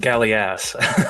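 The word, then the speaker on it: Galleass: The game is pronounced Gallias. It's an old type of warship.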